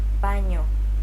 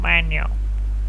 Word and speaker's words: baño: One trick to pronouncing this sound is by saying the word onion, Onion. or canyon. Canyon. It kind of sounds like a combination between an N and a Y sound, doesn't it?